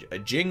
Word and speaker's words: Ging: find his father uh Jing that's how they pronounce it in in Japanese they pronounce it Jing but obviously it's g i n g so I don't know if it's ging or Jing I'm going to go